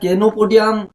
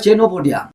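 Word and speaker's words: Chenopodium: দেখুন এখানে এই কেনোপোডিয়াম যেটা লিখেছে, এটা কেনোপোডিয়াম নয়, আমার ধারণা এটা হবে চেনোপোডিয়াম।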